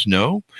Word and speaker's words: SNO: A Quantum Portal has opened, part of the SN O Chronicles, pronounced Snow.